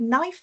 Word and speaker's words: knife: If we're cutting something, the word knife has a silent K.